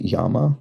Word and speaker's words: llama: Animal whose name is pronounced with a Y sound by many Spanish speakers. Okay, there we go. So is it Yama then? I guess that would make sense with the double L.